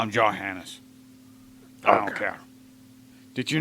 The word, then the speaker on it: Johannes Kepler: camera obscura way before johannes kepler's time you know they call him johann what is that he's german the j was not pronounced that way i still call him johannes i don't care did